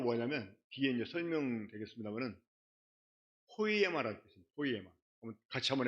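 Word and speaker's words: ποίημα: 포이에마 한번 같이 한번 해 볼게요. 포이에마.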